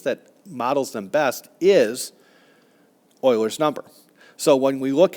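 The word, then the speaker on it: Euler: It is called oilers's number. Uh a lot of people pronounce it uler, but it's actually oiler.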